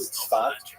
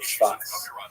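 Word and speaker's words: Tzfat: And that is the total explosion of spiritual literary religious activity that occurred in the northern Israel city of safet pronounced in Hebrew spot or spas.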